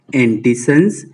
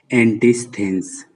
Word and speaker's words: Antisthenes: In US, it is his name is pronunciated as Antisons, and in UK, his name is pronunciated as Antisthenes, and is one of